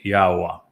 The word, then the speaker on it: Yahowah: And we say it Yahowah. And that is because the Yod and the He are understood from the way Yahweh introduced his name.